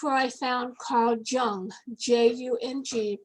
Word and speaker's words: Jung: psychology and that's where i found carl jung j-u-n-g pronounced jung actually but nobody knows who you're talking